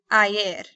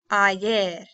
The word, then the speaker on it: ayer: So for example, let's begin with ante ayer. Say it with me. Ante ayer. So the Y is pronounced like two L's. Ante ayer. Muy bien? Or kind of like the Y actually.